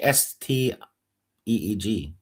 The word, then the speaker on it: Stig: Kind of like st eeg.